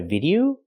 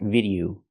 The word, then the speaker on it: video: recently I posted a video the word is not pronounced video it's pronounced video O The Last Vow is a long o like no and go o video not video